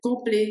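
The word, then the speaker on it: complet: Compl. C'est ça. Compl. Vous prononcez pas le t parce qu'il y a pas de e après le t, hein.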